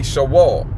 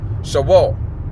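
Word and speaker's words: Sheol: The correct pronunciation will be Shawal. Shawal.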